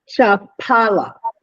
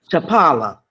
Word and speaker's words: Chapala: How you pronounce it? Chapala. Chapala.